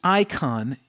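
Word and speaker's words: εἰκών: currency and so this word likeness is produced icon in the greek that's how it's pronounced and it's actually where we get our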